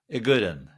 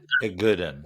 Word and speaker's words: Igoudin: And I feel like the I is silent, so I'm going to say gooden. A gooden. A gooden.